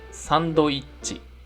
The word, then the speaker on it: サンドイッチ: 次に同じように止まる音の小さい図も同じ音の長さがあります。例えばこれはサンドイッチと発音します。